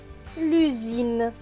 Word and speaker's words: l'usine: Là, le S est entre deux voyelles, le U et le I, donc il va se prononcer Z.